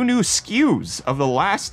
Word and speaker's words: SKU: To which mine corrected, it's SKUs. It's actually an acronym that stands for stock keeping units. So when people say SKUs, they're not, it's an acronym that they're pronouncing as a word, just as information for you.